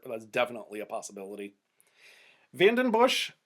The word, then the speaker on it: Vandenbussche: Vandenbush, I just think of those commercials cracking open a beer when I hear the last syllable of his name. Bush.